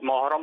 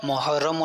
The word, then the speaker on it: محرم: تلفظ ماشاءاللہ صحیح لیا، لیکن ہم عوام الناس جو ہے نا یہ محرم کو محرم بولتے ہیں. محرم آ گیا، یہ محرم نہیں ہے، محرم محرم محرم.